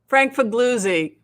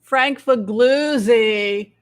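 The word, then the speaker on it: Figliuzzi: like i can't remember frankfu fugloozi frank how do you say his name frankfugluzzi frankfugluzzy broke the story the before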